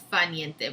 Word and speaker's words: dolce far niente: niente and I think the R is silent. So I think it's fa niente, but I could be wrong.